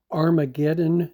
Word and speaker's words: Armageddon: And we pronounce Armageddon with an A. The Greeks pronounce it with an H.